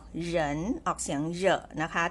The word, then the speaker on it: 人: นิด นึง นะ คะ ตัว R นี้ นะ คะ ไม่ ออก เสียง รอ เรือ นะ คะ ไม่ ออก เหริน แต่ ออก เหยิน ออก เสียง เยอะ นะ